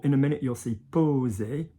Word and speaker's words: poser: So for example, in a minute you'll see poser, poser, so with a single S, like a Z.